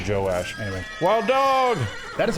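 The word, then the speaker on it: Joash: to uh josh his it's not josh it's josh and joe his father or joe ash yeah his father how do you spell it j-o-a-s-h yeah i would say joe ash anyway wild dog that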